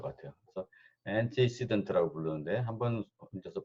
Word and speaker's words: antecedent: 그래서 antecedent라고 부르는데 한번 혼자서 발음을 antecedent예요. antecedent.